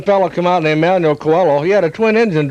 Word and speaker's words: Coelho: He said, "My name is Manuel Coelho." Uh I said, "Okay, I'm sorry. But how am I pronouncing it?" "Well, you're pronouncing it Manuel Coeho."